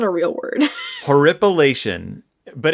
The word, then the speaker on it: horripilation: Horroripilation? Spell it. HORRORIPILATION. Horrorpilation. Horroripilation. Horror H. It's just horror. Horrorpilation. IPILATION. Horripilation.